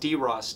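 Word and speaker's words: DryOS: instead of the current, I believe it's pronounced DROS, D-R-Y-O-S.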